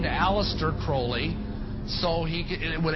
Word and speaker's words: Aleister Crowley: he likes to bring have his name pronounced crowley to rhyme with holy and uh the satanists